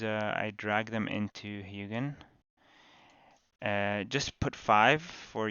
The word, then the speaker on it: Hugin: so back to hugin I just actually learned it's pronounced hugin not huggen so I'll use that